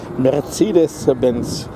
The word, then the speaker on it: Mercedes-Benz: By the way, in German we are pronouncing it Mercedes-Benz. So a little bit different.